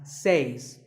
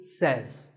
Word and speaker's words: says: This word is commonly mispronounced by people learning English as says. But remember, I say, you say, but he or she says. Number 3 is etc.